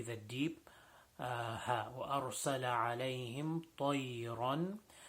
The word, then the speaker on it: طَيْرًا: طَيْرًا is a ta, not a ta. So ta is also a full mouth letter. So making sure that we say it with the thickness that it should be pronounced with, and also the bend in the word طَيْرًا.